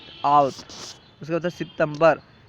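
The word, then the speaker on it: اوت: زویہ، جولائی زویہ۔ اگست، اگست کا فارسی تلفظ ہے آوت، اگست آوت۔ اس کے بعد ہے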